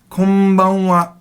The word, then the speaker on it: Konbanwa: Now that N almost sounds like an M, doesn't it? Because when the N goes to the B, your mouth naturally makes an M sound. So some materials will spell it K-O-M, but that's wrong because there is no such thing in Japanese.